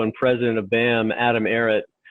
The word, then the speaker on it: Barratt: president of BAM, Ivan Barratt. Just a coincidence that it rhymes with Barrett.